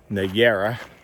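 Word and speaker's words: Nájera: I'm pretty sure the J is not pronounced like a J. Niera.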